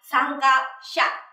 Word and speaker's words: 参加者: Mình cũng thêm chữ giả vào đằng sau và mình sẽ đọc là 参加者.